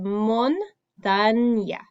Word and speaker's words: montaña: Okay, so we have montaña, montaña. So we have that ñ there. It makes that ñ sound. So it seems like it's an N and a Y together, but it's just an ñ.